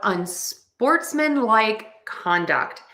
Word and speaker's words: unsportsmanlike conduct: So we are going to stress sports and con. So we have unsportsmanlike conduct, unsportsmanlike conduct.